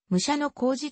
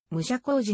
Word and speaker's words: 武者小路: 議員いいせーの武者小路は本来武者小路と読むが後に武者工事に読み方を変更したしかし一般には